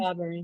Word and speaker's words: Barbary: Is it Barbary? Is that how we say her name? Barbary, yes. Barbary, yeah, thanks.